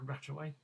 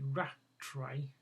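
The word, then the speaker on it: Rattray: head of station F uh Commander wi Commander ratway rat sorry ratray ratray r a t r a y my pronounciation not as good as it should should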